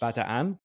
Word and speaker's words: Bataan: Bataan, which is actually, apparently it's supposed to be pronounced Bataan, but my whole life it's been Bataan, so I have to pronounce it like that. I just can't get myself to do it, but I acknowledge that we're mispronouncing it, as the narrator for